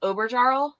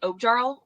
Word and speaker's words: Oberjarl: Well, for the longest time, I used to say, instead of like Oberjarl, I'd say like Objarl. I didn't know there's like an R in the middle of it.